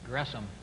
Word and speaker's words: Gresham: S and the H it's not an sh sound but it's a syllable division there so it's grome on May 3 1915